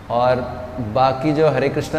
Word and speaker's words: कृष्ण: रामा बोल रहे हैं, या कृष्णा नहीं बोल रहे हैं, कृष्ण बोल रहे हैं, ये भी ठीक है।